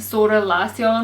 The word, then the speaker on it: Zara Larsson: now her name is Zara lson and she's a Swedish singer her name's actually pronounced like sort lasson or something because she's Swedish but I'm just going